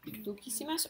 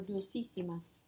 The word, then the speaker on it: dulcísimas: With dulce, it already has a soft C. Would you have to change it to a Q U? Would we say dulquísima? Dulquísimas or dulcísimas? Dulcísimas. You go with what sounds right.